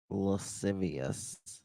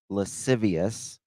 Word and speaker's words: lascivious: of lwd and I never can say it lascivious I think I said it right lascivious m o l s t a t IO